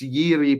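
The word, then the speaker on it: Jiří: It says Jiri Pavinka, but I don't you guys don't pronounce the J. So, I think it's Yiri Pavinka.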